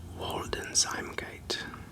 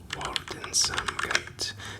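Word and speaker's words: Waldeinsamkeit: Germanic language or largely a Germanic language, German pronunciation is something that uh escapes me many times. So this is Walden Zimgate. Walden Sgate.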